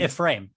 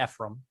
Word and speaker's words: Ephraim: up here and it is yephrim avery and a frame a frame okay thank you they normally go by a frame or uh some people pronounce it ephraim okay from ephraim he uh actually did supposedly